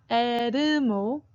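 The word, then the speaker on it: 엘모: It's not Elmo. That's 3 syllables, right? It's Elmo. Elmo.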